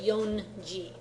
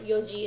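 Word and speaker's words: 四時: has to be yoi they don't say yon G yon just sounds funny okay Yoji is the standard okay go 500 go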